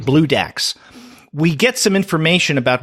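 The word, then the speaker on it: Bloodax: Now, if you're wondering what the name refers to, and by the way, it's spelled BLOO-Dax, DAX, Blue Dax.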